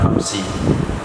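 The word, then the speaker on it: أمس: Ketika suami bilang kepada istrinya, anti tolikun amsi, amsi itu bina kasrah selama-lamanya. Mau dia huruf jar, nggak ada huruf jar, bacanya amsi.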